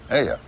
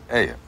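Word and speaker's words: ayuh: Aya. Yeah. Yeah. How do you spell it? A-Y-U-H. Aya.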